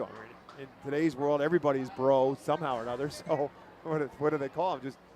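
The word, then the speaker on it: Breaux: a ball 1-0 now Josh bro is spelled b-r-e-a-u-x I think it missed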